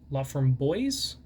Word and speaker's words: Laframboise: So the first one here is a 2 of 1 return from former MLB pitcher Bobby Laframboise, is according to Baseball Reference how it's pronounced.